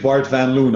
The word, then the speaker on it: Bart van Loon: The Bart would be the English pronunciation and Van Loon the Dutch pronunciation. Okay, so how would you say it? Let's start there. Yeah, well, completely in Dutch, my name would be pronounced Bart van Loon. In English, Bart van Loon, obviously.